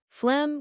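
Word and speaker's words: phlegm: Flem with a silent g spelling is evil.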